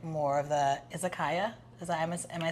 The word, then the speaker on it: izakaya: Would you be like more of the izakaya?